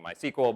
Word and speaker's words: MySQL: the audience to see which way i was going to pronounce it and i was convinced that everybody was going to want me to pronounce it mysql but it was actually split down the middle about 5050 so I just ended up saying my sequel because that's the way I've always said it I sort of blame